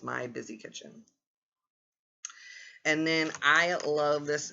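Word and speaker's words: My Bizzy Kitchen: And her twin sister's name is My Busy Kitchen, which is spelled MYBIZZY Kitchen. So that's My Busy Kitchen.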